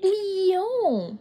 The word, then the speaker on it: Lyon: Et l'autre, Lyon. Reine-mère, on dit Lyon. Lyon. Tu n'as pas besoin de faire comme moi avec les lèvres. Juste prononce Lyon.